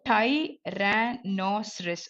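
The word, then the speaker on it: Tyrannosaurus: Okay, so டைரானோசரஸ். Okay, so டைனோசரஸ் சொல்லுவோம்ல, அந்த மாதிரி இது வந்து டைரானோசரஸ்.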